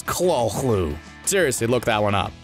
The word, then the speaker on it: Cthulhu: credits and yes that is actually how you pronounce call clue it's not Cthulhu or Cthulhu yeah it's Claus Lou seriously look that one up we're not lying